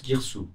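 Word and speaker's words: Girsu: connaît plus tard et on sait bien que la ville se prononce Guirsou.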